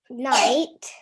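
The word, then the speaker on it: knight: Night. Night, that's right. So in the word night, it starts with K, but the K is silent.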